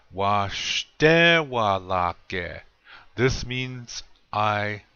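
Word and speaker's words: waštéwalake: Washtewalake. Accent is on the second syllable, the shte part. Washtewalake.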